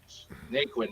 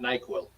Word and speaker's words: Naquin: And yes, Rox, it's spelled Naquin, if you're looking that up. Naquin, not NyQuil.